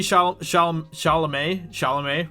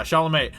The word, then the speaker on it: Chalamet: Timothy Chalamet, right? Isn't that how you pronounce his name? Yeah, Chalamet.